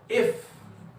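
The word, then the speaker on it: iff: Implies मतलब हम लोग आप लोग बताया था ना कि इफ and only इफ, that is IIF, और यू can pronounce it इफ, okay.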